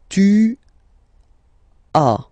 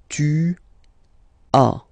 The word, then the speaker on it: tu as: Second one, tu as, okay. As usual in French, final s is not pronounced. Tu as, tu as, okay.